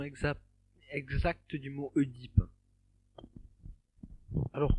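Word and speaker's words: Œdipe: Donc, par contre, quelle est la prononciation exacte du mot Oedipe? Alors, le mieux, ce serait de dire Édipe. D'accord.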